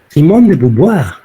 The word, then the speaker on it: Simone de Beauvoir: la época con contemporánea simone de beauvoir así se pronuncia no se escribe sin moneda de amor no se pronuncia la francesa páginas 37 a 39